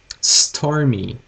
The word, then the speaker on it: stormy: Stormy. Stormy. Ok? Todas essas palavras, elas têm o Y no final. Então a gente vai ter que fazer uma pronúncia bem afinada no término da fala.